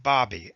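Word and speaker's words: Baby: The name may be spelled B-A-B-Y, but it is pronounced Bobby, as in hobby.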